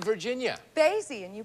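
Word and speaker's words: Basye: And Donna, you are from Basie, Virginia. Basie, and you pronounced it correctly.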